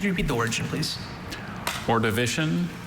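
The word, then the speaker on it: Ordovician: Alter pronunciations uh just the one orivition.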